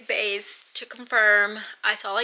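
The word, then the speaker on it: Béis: I don't really know how to say it. It's Bays, to confirm. I saw a YouTube video about it. It's Bays.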